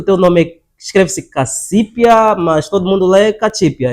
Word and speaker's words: Cacipi: Entretanto, por ser um nome de cunho, ou seja, de matriz africana, a letra C nas línguas ovimbundos é pronunciada Che. Ok. Então a pronúncia é Chi.